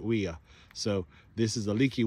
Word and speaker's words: weir: they call them leaky weas We R I don't know how we pronounce it in English here in Kentucky with the accent but uh down in Australia in English they pronounce it WEA so this is a